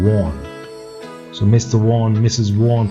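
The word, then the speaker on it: Vaughan: Professor Warren, so V-A-U-G-H-A-N, that's a name, that's a last name, Warren, V-O-H-N, that's the pronunciation, Warren.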